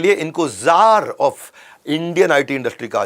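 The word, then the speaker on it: czar: वैसे सी जार होता है, लेकिन सी साइलेंट होता है ये इंडियन आईटी इंडस्ट्री में।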